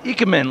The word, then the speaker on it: Ikemen: Can you pronounce this for me? The Ikemen line. Ikemen line.